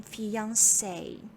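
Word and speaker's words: fiancée: and then you become fiancee and the female female work for fiance is fiance the pronunciation remains the same but we add one more e at the end of the world okay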